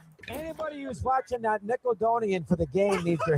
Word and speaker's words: Nickelodeon: That Nicodonian Nickelodeon thing I could not get into people all over the place. Okay, we get the point. Yes. So that that's him mispronouncing Nickelodeon and saying Nickelodeon.